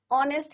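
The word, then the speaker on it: honest: ऑनेस्ट है। होनेस्ट से ही बोलते हैं एच इज योर साइलेंट।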